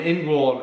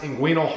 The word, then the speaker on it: inguinal: I had a hernia an in-wall hernia actually it's pronounced inguinal hernia right so it's a